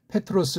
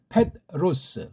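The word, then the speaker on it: Πέτρος: 겁니다 그렇게 놓고 이제 페트로스 발음해야 된다고요 그러니까 페트로스 우리 이제 삼성이 저리면 패로스 그렇죠 또는 패롯 이렇게도 할 수 있어요 패롯 그러면 뭔 말인지 모르잖아 그니까 서양은 받침이 없으니깐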